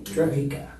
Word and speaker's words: Drejka: Interview will be concluded with Michael, pronounce your name? Drejka.